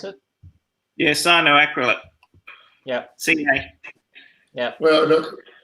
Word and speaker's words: cyanoacrylate: In regards to gluing wood to plastic, I usually use cyanoacrylate. I think that's how you pronounce it. Yeah, cyanoacrylate.